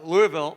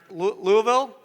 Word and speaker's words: Louisville: It's a lot of fun in these fans out here, especially Louisville, right? Louisville? Yeah. Don't say it wrong. Louisville.